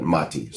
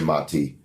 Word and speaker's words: Mati: Chartists like Maddy Greenspan motty's always pronounce his name wrong sorry mati maybe spell it different so we'll say it right in his nature they're like mah mah TI right yeah petition everybody sign